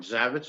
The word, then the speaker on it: Zavecz: ahead and pronounce oh that's that's fine zavitz is just fine zabex well welcome to